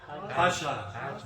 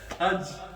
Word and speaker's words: Hajj: How do you say Hajj? Hasha. Oh, no. Hajj.